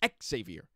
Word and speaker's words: Xavier: exactly like this but he pronounced the x it was x-savior x-savior um so brandon clark after